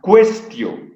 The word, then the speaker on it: quaestio: Este signo es la A y la E juntas, están pegadas, se pronuncia E. ¿Sí? En latín, y hemos de ver, la U después de la Q siempre suena, y el diptongo AE suena a E. Por lo tanto, esto se lee questio.